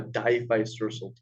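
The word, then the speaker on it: diphycercal: waters that have a diphysersal tail it's a very complex word but if you they die vice versa a couple of times I'm sure you'll remember it it's very complicated in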